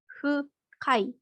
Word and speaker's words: fukai: Makanya bukan hu, tapi fu. Jadi itu cara pengucapan orang Jepang atau lidahnya orang Jepang gitu kalau huruf hu. Kalau melafalkan hu itu hu, hu, hu. Makanya jadi fu gitu.